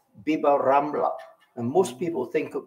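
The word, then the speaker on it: Bib-Rambla: Now, in Spanish Arabic, there is a linguistic phenomenon known as al-imala, which means that the long A, alif, is pronounced as long I.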